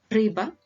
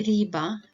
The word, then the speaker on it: рыба: Рыба, мыло, тыква. Рыба, мыло, тыква. Don't say риба, мило, тыква. Yeah, it needs to be pronounced harder.